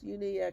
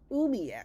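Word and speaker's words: umiak: children dogs and supplies uniac is umiac sorry I pronounced it wrong should add the pronunciation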